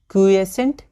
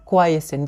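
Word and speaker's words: quiescent: तो इसको हम लोग ध्यान से देखेंगे, क्यूएसेंट या क्वाइसेंट, जैसे क्वाइट होता है बस उसी तरह क्वाइसेंट या क्यूएसेंट, ठीक है। तो हम लोग क्वाइसेंट प्रोनाउंसिएशन करेंगे, तो क्वाइसेंट फेज होता है, ठीक है।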